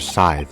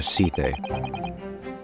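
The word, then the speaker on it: Sithe: Yes, it's pronounced Dr. Scythe, not Dr. Seethe.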